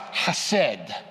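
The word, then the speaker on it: חסד: right but but it's the hebrew word that's pronounced hased and it's interesting the place where this is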